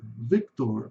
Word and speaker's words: Victor: Aqui em português nós falamos víctor. Victor, mas em inglês é Victor. Esse o R no final vai ser o sonzinho do chuá com rzinho pela metade.